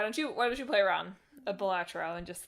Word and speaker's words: Balatro: will be there playing batra it is pronounced well it's pronounced batro Andor however you want to pronounce it by the way it's definitely the Latin I I read an